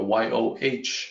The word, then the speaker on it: 有: denote pronunciation of yo so it sounds more like the Yoh that you see here so that part of